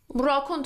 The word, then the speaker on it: raccoon: Raccoon تو فارسی هم میگیم raccoon. Raccoon. Stress is on the second syllable.